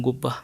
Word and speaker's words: Goba: Yeroo amma kana magaalaan Roobeetii fi magaalaan Gobbaa iddoo tokkotti deebi'anii jiranii. Magaalaan Gobbaa. Goba. Garuu pronounce yeroo ta'u yeroo uummanni yeroo itti waamaa jirutti Gobba jennee waamaa jirra.